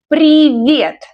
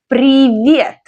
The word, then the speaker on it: Привет: Привет. The stress is on the second syllable. Repeat after me. Привет.